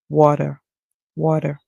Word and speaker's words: water: as water water because the American would pronounce the T as a D sound so he water water however if you're using